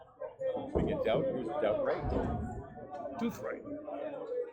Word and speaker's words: Douthwright: Douthwright. Yeah, I did learn that's the right way to say it. Douthwright.